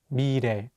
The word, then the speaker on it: 미래: Here, the 리을 consonant is between the vowels E and 에, so it will have more of an R sound. Let's say it together, 미래.